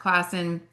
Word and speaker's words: Classen: It was a recorded presentation and I got to hear from Mark Classen. Is it Classen or Classen? Right. First way is good.